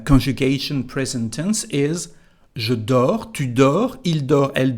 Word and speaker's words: dors: So as usual, and I can hear, we don't pronounce actually the letter S nor the T, so it's just for writing.